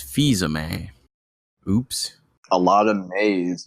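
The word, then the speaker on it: Fils-Aimé: my face oh oh apparently I pronounce Reggie's name wrong a couple weeks ago did you said his last name was Phil zamay when apparently it's fisa May oops a lot of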